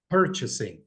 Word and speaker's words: purchasing: please sure number one purchasing and it's very important to emphasize this word because the tonic syllable is the first one purchasing two competitive price three